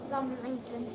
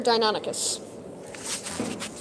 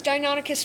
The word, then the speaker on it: Deinonychus: Dominican.